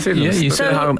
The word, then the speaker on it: Sydenham: Sydenham.